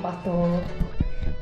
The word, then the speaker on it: Batur: How do you even pronounce it, love? Mount Batur.